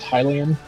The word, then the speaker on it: Hylian: I was totally right about it being pronounced Hylian. How did And people pronounce it? everyone I knew always pronounced it Hylian, and I'm like, well, that doesn't make sense. The place is called Hyrule.